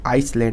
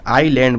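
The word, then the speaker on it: island: बोलते हैं हम लोग आइसलैंड बोलते हैं सॉरी आईलैंड बोलते हैं एस साइलेंट होता है आईलैंड बोलते हैं इसको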